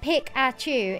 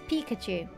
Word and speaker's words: Pikachu: evolving here guys not it's not pick at you it's Pikachu look I warned you